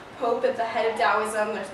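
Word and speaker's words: Taoism: play quite a bit dosm it's it's spelled with a t but it is pronounced with a d weirdest thing ever I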